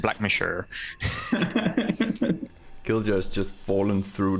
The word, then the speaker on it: Blackmore: the county of Blackmore which is pronounced black mature Gilda has just fallen